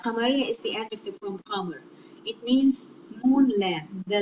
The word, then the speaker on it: قمر: Qamar. When we add alif lam, see the lam has sukun, so it is pronounced because qaf is one of the moon letters that make lam pronounced.